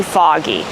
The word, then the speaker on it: fog: We pronounce it a fog. We make the sound a like in call and ball and audio.